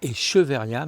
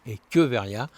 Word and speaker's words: Echeveria: Ne dites pas cheveria mais bien équeveria même si s'écrit ch.